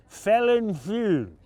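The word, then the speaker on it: Felinfoel: They come from the Welsh brewer, damned if I can pronounce this, Felin Few.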